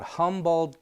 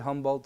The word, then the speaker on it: Humboldt: in a place called humboldt county is that how you pronounce it sort of like the squid humboldt squid and um we're in humboldt